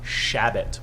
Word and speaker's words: Chabot: time of speedwall tavern it's shabbat with a soft shh shea yeah hey what's